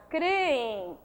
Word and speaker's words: creem: A palavra continua com a mesma pronúncia. Prosódica, ela é paroxítona, creem.